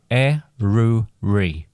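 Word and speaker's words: Eryri: Then there was the correct pronunciation for Snowdon, which I can confirm is with a var, and the correct pronunciation for Snowdonia is Eruri.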